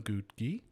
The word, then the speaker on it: Ngugi: i'm here with evelyn gutee like cookie but that's how she taught me to say her name and evelyn is a